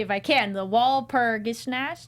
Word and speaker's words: Walpurgisnacht: The Walpurgisnacht. Walpurgisnacht.